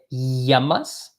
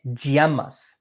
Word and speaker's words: llamas: them are equally correct you can either say it as a letter Y like a yep so I could say calm out there Yama's or you can say como de GMS kind of like a